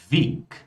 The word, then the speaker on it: Weg: Algo similar acontece com o G, pessoal. Ou seja, o G no final de palavras, tá? Ele vai ser pronunciado como K.